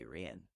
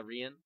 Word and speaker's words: Rian: It's actually Rian. Yeah, Rian.